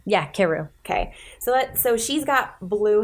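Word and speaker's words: Karou: Keru? Yeah, Keru.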